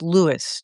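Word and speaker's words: Lewes: it's spelled L E Wes but it's it's pronounced Lewis Delaware.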